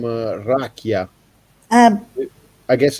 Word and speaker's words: rakia: e come raki in Grecia. Oh Yeah. yeah, almost like. How do you pronounce rakia?